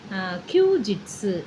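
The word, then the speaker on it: 休日: இதை வந்து ரெண்டத்தையும் ஒன்யோமியில் சொல்லணும். கியூ ஜிட்ஸு, இது கியூ ஜிட்ஸு அப்படின்னு சொல்லணும். இதை ஜிட்ஸு அப்படின்னு ப்ரொனவுன்ஸ் பண்ணணும்.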